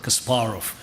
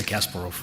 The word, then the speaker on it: Kasparov: when i hear that every speaker you know profoundly says kasparov which is a russian pronunciation americans always say kasparov and uh i understand